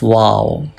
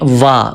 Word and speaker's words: و: Some people read wa. Wa is wrong pronunciation. Please do not read wa. Wa is absolutely wrong. You must read as wow.